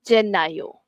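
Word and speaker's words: gennaio: Okey, last sekali jenayo. Jenayo, Januari. Okey, bulan Januari. Okey, so the first sebutan adalah huruf untuk huruf G is a soft J sound.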